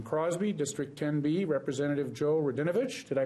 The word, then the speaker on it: Radinovich: To my immediate left, from Crosby, District 10B, Representative Joe Radinovich. Did I pronounce that right?